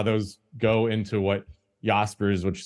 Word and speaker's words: Jaspers: those go into what yaspers which is spelled j s p RS spelled Jaspers but it's pronounced yaspers it's the sort of